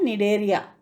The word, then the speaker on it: Cnidaria: इसमें सी साइलेंट है बच्चों, इसको कैसे बोलते हैं? स्पेलिंग लिखते समय CNIDARIA, पर बोलते कैसे हैं? नीडेरिया।